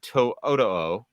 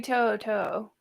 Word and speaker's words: To'oto'o: begin with uh Henry Toyota did I pronounce that correctly I think it's Henry Toto is what I've been taught it is Henry toot uh inside joke I've